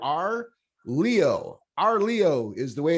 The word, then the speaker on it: Arleau: Sometimes you let that U float out there, but it's R, like the letter R, Leo.